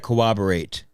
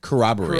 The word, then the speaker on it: corroborate: matella sticks from kabas how do you say it corroborate corroborate there's an r in there it's two RS dude well there's two RS